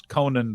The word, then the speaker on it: Konnan: By the way, I pronounce Konnan the wrestler the same as Conan O'Brien.